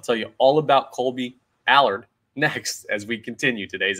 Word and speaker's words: Allard: say his name right I believe it's Allard like Mard but who is he what does he bring and why did the Phillies sign I'll tell you all about Colby Allard next as we continue